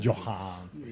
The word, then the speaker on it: Johansson: I was That's exactly how she pronounces it. Johansson.